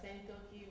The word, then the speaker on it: Sankoki: My name, when it's pronounced correctly, is Sankoki, which means hunting horse.